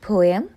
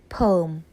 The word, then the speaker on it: poem: In British English, this word is pronounced poem, and in American English, this word is pronounced as poem.